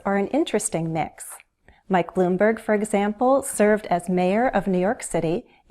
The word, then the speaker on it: Bloomberg: Both those last names have consonant blends, 2 consonant sounds together. ST in Steyer, BL in Bloomberg. And note the pattern. Most 2-syllable last names have stress on the first syllable. Steyer, Bloomberg.